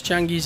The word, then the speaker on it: Changui: today we're kicking Apex changi's ass and yes his name is actually apparently Changi that's how they say it in Korea I heard that so